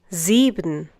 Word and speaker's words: sieben: and is followed by a vowel, it is pronounced as if it were the English C. Similarly, in the next one. Sieben.